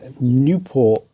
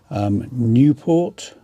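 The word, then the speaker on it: Nieuport: Now this is a Newport, I don't know how you say it, it's French plane. Newport, N-I-E-U-P-O-R-T, Newport.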